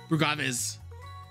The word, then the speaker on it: Brugaves: You're going to be Brugaves. It's going to be like agave. Brugaves.